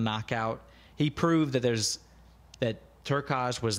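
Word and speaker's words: Turkalj: Turkaj.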